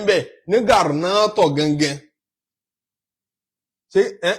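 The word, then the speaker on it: Granada: ṣe ìrìn àjò ìlú kan ń bẹ ní Garnato gangan ṣé Garanat kọ́ ni wọ́n ń pe àwọn òyìnbó pronounce Garnato ní Spain.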